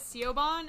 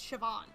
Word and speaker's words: Siobhan: was reading it no before I heard it pronounced I was pronouncing it as seobon and thought it was a man's name before I realized it's Siobhan it's just the original um I think it's Celtic way to pronounce or spell it Gaelic I don't know Gaelic